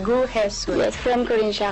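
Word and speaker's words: 구혜선: Yun yung pronunciation. Gu Hesson.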